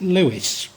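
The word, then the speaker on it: Leveson: skillful marriages, such as, it's written Levisons, and before I've said it, called it Levisons, I believe they pronounce it Lewis, such as the Lewises.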